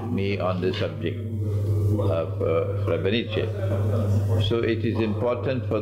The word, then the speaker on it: Srebrenica: Srebrenica. That's the correct pronunciation. Srebrenica.